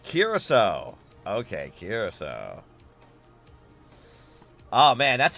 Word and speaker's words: Curaçao: Curacao. Curacao? It's pronounced Curacao? Oh, man. I would not expect a C. Well, yeah, with an S.